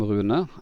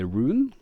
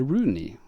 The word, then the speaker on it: Rune: I'm Rune, which I said. My foreign friends call me Rune, which I guess my name is pronounced like that in English. Or, you know, even funnier, when I do travel abroad, I get to the to the custom agents and they call me Rooney, which is quite fitting.